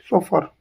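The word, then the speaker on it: chauffeur: सोफर का मतलब होता है professional driver of motor car होता है, और इसकी स्पेलिंग होती है CHAUFFE। रखना है अपनी क्या आती है, ई आती है, सोफर।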